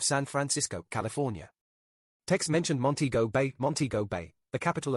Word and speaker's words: Montego: Also, it is pronounced Montego, you fleshy fool.